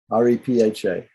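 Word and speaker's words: रेफ: letter r the letter r is not called rakkara but it is called raper rapa repha so raper has some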